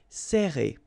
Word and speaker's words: serrer: So you will pronounce it like E. Serrer.